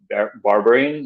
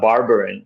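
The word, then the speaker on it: berberine: do you spell it it sounds like you said uh barbarian so kind of like barbarian well that's b-a-r-b-e-r-i-n yeah check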